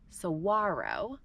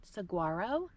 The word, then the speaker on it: Saguaro: large cactuses it's actually Sara um so there is no G or the g is silent um in the name so it's not Saguaro but Saro we